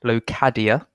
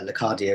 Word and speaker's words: Locadia: I've researched how to pronounce his name, and I believe it's Locadia.